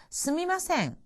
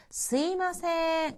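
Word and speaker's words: すみません: すみません. 미안합니다, 실례합니다 하고 사과를 하거나 남을 부를 때의 표현이죠. 이것은 회화체에서 すいません 이렇게 발음하기도 합니다.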